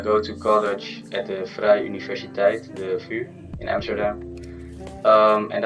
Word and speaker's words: Vrije Universiteit: How to pronounce it? It's the Vrije Universiteit.